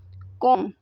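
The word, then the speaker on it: comb: में कोम कहते हैं कोम इसमें बी जो है यह साइलेंट हो जाएगा ठीक है कोम पढ़ा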